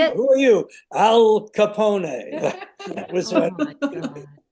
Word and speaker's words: Al Capone: Billy insisted on pronouncing his name Al Capone, which is correct. Oh no. Everyone say nobody would not he kept doing it. Who are you? Al Capone.